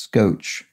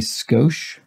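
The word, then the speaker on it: scosh: i don't because i've always heard it pronounced scotch as in a tad a little bit of something but it's spelled with an sh which is looks like it should be skosh i find it so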